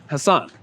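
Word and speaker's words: Hasan: But what's interesting about that is that Hassan does not follow standard English pronunciation rules, because both those A's are pronounced the same.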